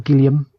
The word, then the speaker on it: Gilliam: This is what they're trying to get Gilliam on. Cool. Or Gilliam, as I should have pronounced his name correctly.